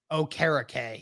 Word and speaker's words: Okereke: That, Okereke. Yeah, that's how I say it now. I know that's how it is, because he corrected people.